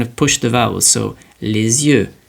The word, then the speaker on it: les yeux: Now the liaison is tying the letters, the sound of the S, with the beginning of the next word, and it just makes it sound easier to pronounce.